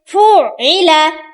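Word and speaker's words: فُعِلَ: এখানে কিন্তু অনেকে ভুল করে, ফুইলা এখানে কিন্তু ধাক্কা হবে না, আইন উচ্চারণ হবে সঠিকভাবে।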